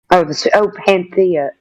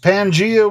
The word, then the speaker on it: Pangea: Panthea. Right? Correct! Pangea was a supercontinent.